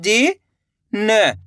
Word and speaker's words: जिन: इसी तरीके से आपको तेजी के साथ इसका उच्चारण करना है। जीन। ज्यादा खींच के नहीं पढ़ना है। जीन। अगर आप खींच के पढ़ोगे जीन तो यहां पे बड़ी ई की मात्रा का उच्चारण हो जाएगा। तो आपको करना क्या है? कम खींच के पढ़ना है।